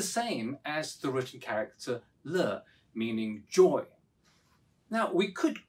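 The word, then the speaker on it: 乐: Although pronounced differently, the written character yue, meaning music, is the same as the written character le, meaning joy.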